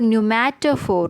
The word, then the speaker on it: pneumatophore: Even though the spelling is different, pronunciation is the same. New for pneumatophore.